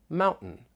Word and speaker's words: mountain: of the word Mountain I'm going to keep pronouncing it with a glal t but here are some